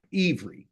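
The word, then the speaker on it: עברי: okay then you say I'm a Hebrew and it's spelled i v r i ever that's what they call it okay so an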